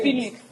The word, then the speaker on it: Felix: So it's Felix. Felix is the correct pronunciation.